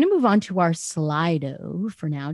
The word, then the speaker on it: Slido: move on to our slido for now did i say it right slido slither it's slide over okay i wasn't sure um